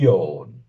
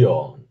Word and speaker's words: ion: ésta sería bien y yo guión y guión y yo en una es como una bastante profunda y redondeada mientras que la otra forma sería una o un poquitito más alta y abierta aquí tenemos la palabra